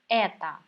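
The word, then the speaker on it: это: table at the store pay attention to pronunciation here at the end of this word we see the letter O but we never say like that it is unstressed so we pronounce it as though okay what else do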